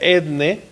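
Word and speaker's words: ἔθνη: viene del griego etne esa palabra roja que está ahí se pronuncia etne de donde viene nuestra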